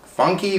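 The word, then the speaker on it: Famke: probably her name wrong probably like her fam key i heard different like somebody say funky finn funky i'm calling her fam key that's where he spell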